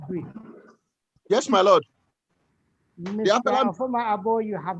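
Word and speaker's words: Oforma Agbo: My name is Oforma Abo, OFORMA, sir.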